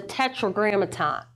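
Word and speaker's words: Tetragrammaton: Tetra grammaton. The four Hebrew letters. All right. You just said it right there cuz tetro grammaton is four. This is this is fourletter word.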